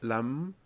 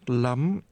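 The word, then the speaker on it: lắm: remember the word order oh that Lam not lamb not lamb say 51 000 dong remember the tone thousand uh and what's the number 11.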